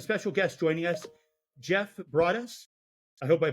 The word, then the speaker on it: Broaddus: be here thanks for having me and it's brus but I've been called worse so I appreciate